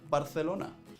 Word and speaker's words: Barcelona: We actually only do it when the C comes before an I or an E, like in Barcelona.